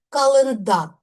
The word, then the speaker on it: Календар: Календар. Іменник чоловічого роду із суфіксом R. В родовому відмінку немає кого, чого календаря. Наголос із суфікса перемістився на закінчення.